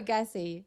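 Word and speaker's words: Gaethje: pronouncing his name right is it gasy or gassi I'm saying gayy it's gayy gayy okay uh yeah I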